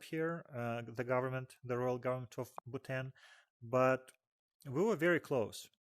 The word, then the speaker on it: Bhutan: It was the first ever trip to Bhutan. I think H is silent.